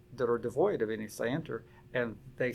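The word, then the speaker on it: scienter: because of strict liability knowledge the legal term is spelled s-c-i-e-n-t-r say enter and there was there were statutory schemes all over the country that that are devoid of any sander and they say we don't care i think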